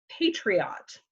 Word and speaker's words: patriot: It's not patriot, like drum majorette or something like that. Patriot connotes something little, something diminutive.